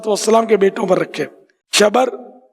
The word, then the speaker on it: شبر: شبر اور شبیر، اعلیٰ حضرت نے اس کا تلفظ ہی بیان کیا، شبر، شبیر، مشبر۔